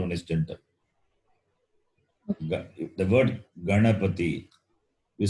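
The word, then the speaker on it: गणपति: Even if you try to say, you won't get Ganapati sound. You know the word is, the pronunciation is Ganapati. And if you try to say, use the tongue touching the base of the upper lip, then you will not get the sound and you won't be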